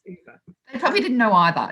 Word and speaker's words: Ove: a man called uber um which i always pronounced as a man called ove until only a couple of weeks ago when i found out it was over does everyone laugh anyway i was today old